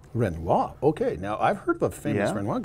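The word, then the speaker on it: Renouard: no it's uh the the pronunciation is renoa renoa okay now I've heard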